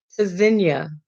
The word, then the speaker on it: Tzynya: disposable burdened with pain pronounced cesinia verb from hebrew meaning to listen for or hear spelled t z y n y a the first letter t is a stop disrupts air flow quick